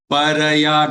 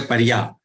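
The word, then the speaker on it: परया: Shraddhaya paraya taptan tapastat trividhan naraihi aphalakankshibhir yuktais satvikam parichakshate. Shraddhaya, don't say shraddhya. Shraddhaya paraya, don't say parya.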